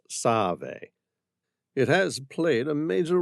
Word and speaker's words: Save: The river's proper name is Motsave, or Save, pronounced Save.